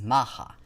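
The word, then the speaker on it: Macha: the next aspect is the goddess maha which is spoil which is spelled as m-a-c-h-a maha is recognized as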